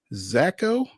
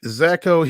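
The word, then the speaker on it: Szako: baseball Austin peas Brody zacho I guess the S is silent s z a KO hit four home runs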